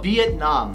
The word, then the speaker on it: Vietnam: 영어 원어민한테 베트남이라고 하면 알아들을 수 있는데 미국 발음으로 하려면 조금 더 세게 발음해야 돼요. 비엣남. 비엣남. 비엣남.